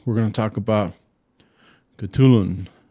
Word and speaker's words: Khutulun: to talk about katulun it's like k-h-u-t-u-l-u-n katulun okay right i know it's hard i had to like google the pronunciation you know i was like i was like it was almost like almost like a like a ch sound i guess yeah it's kh though well chatelain was a